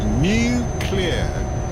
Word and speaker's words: nuclear: Yeah, nuclear. You think of something new and it gives it the all clear, although that's nothing to do with these kind of weapons, of course.